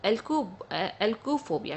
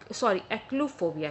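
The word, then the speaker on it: achluophobia: उसको एल्कोफोबिया कहते हैं। ठीक है, एक्लूफोबिया कहते हैं। मैं फिर से स्पेलिंग ACHLU फोबिया, एक्लूफोबिया कहा जाता है।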